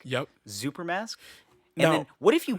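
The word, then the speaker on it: Xuper: around that's wearing a super mask which i believe that's how it's pronounced x-u-p-e-r mask yup super mask and then what if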